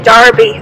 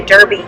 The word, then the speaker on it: derby: goes to see it it's also spelled the same way they just say darby over in england we say derby here in kentucky and he was inspired